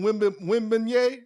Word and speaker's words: Wembanyama: Wembanyama. That's what you say? Like a beignet or something like that?